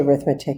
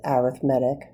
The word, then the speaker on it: arithmetic: You can say arithmetic if you want. This is how I learned it, though. If we're talking about a sequence, we pronounce it arithmetic.